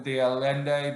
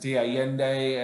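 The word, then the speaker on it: de Allende: they're number 12 now people call him diende but being it's a Spanish word and I pronounce it Di yende and I believe aende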